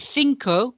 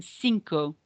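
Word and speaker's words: cinco: want to point out so with thinko we're going to say th rather than sinko you'll notice that um c i is a th sound in Spanish if we speak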